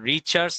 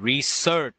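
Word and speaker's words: research: ঠিক বলেছে হচ্ছে স্লিভার নাম্বারের উপর আচ্ছা রিচার্চ না উচ্চারণটা হচ্ছে রিসার্চ এটা অনেকেই ভুল উচ্চারণ করে অনেকেই বলে রিচার্চ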